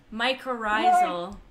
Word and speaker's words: mycorrhizal: a difficult one I you're not saying it right but that is the right answer so it's mycorrhizal Wow oh but I